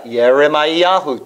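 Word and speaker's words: ירמיהו: If you see the name Jeremiah, Yeremiahu.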